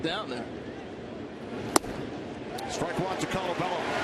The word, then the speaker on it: Colabello: Colabello, you know, a little Italian in there.